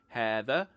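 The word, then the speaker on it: هذا: word this Arabic has two words for this hatha and had the he neither is pronounced phonetically and the final hat of had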